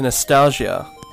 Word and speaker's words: NEStalgia: welcome everyone to nostalgia i think that's how you pronounce that except it's nes as in nes graphics today we're playing the